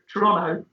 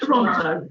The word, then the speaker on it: Toronto: town I lived in, and correctly, Toronto, not Toronto, as English people say.